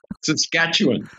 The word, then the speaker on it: Saskatchewan: lot one okay now tell me how to pronounce it Saskatchewan Saskatchewan that's what it means uh gently flowing